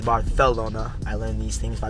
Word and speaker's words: Barcelona: Also, Barcelona is Barcelona.